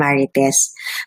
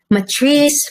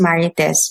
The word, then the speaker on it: Marites: Filipino, napakadaling i-pronounce yun, Marites. For Americans, masyado na lang minamurder yung pangalan ko. Matrice, Martis. As in, every day, kausap mo na siya araw-araw, i-correct mo pa rin, no, it's Marites, Matrice Martis.